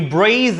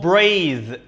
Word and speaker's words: breathe: in breathe out and it's called breathe not breath breathe breathe then breathe out good